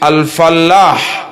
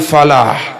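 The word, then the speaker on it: فلاح: Kalau bertasydid alfallah artinya petani. Jika Anda tidak mengerjakan tasydid, bacalah alpha, yang artinya semoga beruntung.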